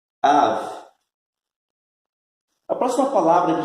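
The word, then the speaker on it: אב: E a pronúncia é Av. Av.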